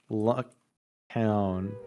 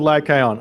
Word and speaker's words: Lycaon: English pronounce Lycaon. Lycaon. Lycaon. All right, we'll go with Lycaon.